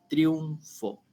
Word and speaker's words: triunfo: cual no era correcto la palabra triunfo tiene dos sílabas es triunfo y en el caso